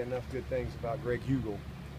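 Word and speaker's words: Heugel: Cannot say enough good things about Greg Hugel. I've learned his name, and I even know how to spell it, H-E-U-G-E-L, Hugel. So really proud of him.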